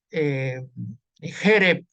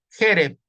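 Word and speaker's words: חֶרֶב: ¿Por qué digo Jereb y por qué no digo Jereb? Cuando la mayoría de las palabras en hebreo son agudas, se acentúan en la última sílaba. Pero por qué yo no digo Jereb y digo Jereb? Esto de primer año. Cebolada. Porque es una segolada. Ahí está, hay dos segoles.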